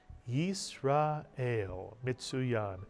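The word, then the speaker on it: ישראל: don't write it so the first syllable is yes the second syllable is ra the third syllable is el put the word together you get isra el and of course israel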